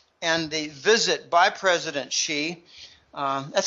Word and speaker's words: Xi: There are numerous elements to the trip and the visit by President Xi. That's how you pronounce XI. It's like he, she, it, she, President Xi.